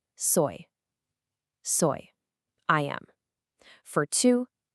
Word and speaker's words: soy: For soy, just think of the English word soy, like in soy sauce, because trust me, you're going to put this verb on absolutely everything.